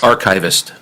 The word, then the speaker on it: Archavist: Archivist.